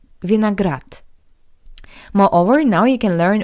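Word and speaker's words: виноград: How you could hear the voiced consonant d at the end of this word also sounds like the paired voiceless consonant t. Vineagrat. Vineagrat.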